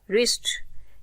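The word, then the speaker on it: wrist: नहीं किया जा रहा रिस्ट इसमें आर से हम प्रोनाउंस कर रहे हैं वर्ड को और लेटर्स को बट हम डब्लू को प्रोनाउंस नहीं कर रहे ऐसे लेटर्स को हम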